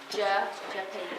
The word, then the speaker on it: Gyapay: It's Hungarian, so we have different alphabet. Oh, okay. So like the G and the Y's are actually hard. Gyapay. It's like Gyapay.